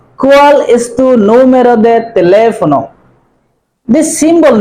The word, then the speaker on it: teléfono: Whenever you find a tilde over a letter, it will be long intonation. That means you have to give accent on the letter. Número de teléfono, not teléfono. Teléfono, teléfono. Because tilde is used over a, that's why it will be teléfono.